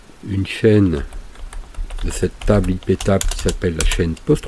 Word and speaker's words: iptables: aie pitié volts alors iptables prononcé à la française c'est une règle qui